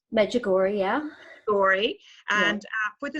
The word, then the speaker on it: Medjugorje: Medjugorje, yeah.